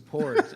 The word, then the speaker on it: Porgs: Porgs.